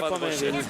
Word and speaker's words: Pominville: Il y a des garçons qui ont l'habitude de regarder les matchs de hockey sur ESPN et effectivement les Américains prononcent à l'américaine. Oui. Mais nous, les noms québécois, on les prononce en français, mes amis. En québécois, pardon. Et en québécois, oui. Voilà, c'est l'occasion aussi, cet